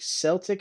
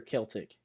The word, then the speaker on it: Celtic: Is it Celtic or Celtic? I'm gonna go with Celtic I think just it'd be because it sounds Celtic. cooler.